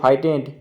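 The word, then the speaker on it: frightened: এখানে দেখো বন্ধুরা, এই যে GH এর কোনো উচ্চারণ হবে না, অর্থাৎ GH এখানে সাইলেন্ট লেটার।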